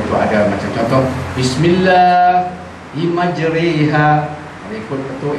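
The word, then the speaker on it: مَجْرِيهَا: Sebab itu ada macam contoh, Bismillah majriha, ikut betul ejaan biasa, majriha. Itu kalau orang tak guru, tapi yang guru dia tahu. Masa itu ada pengecualian. Bismillahirrahmanirrahim. Jeri, re jadi re, bukan ri.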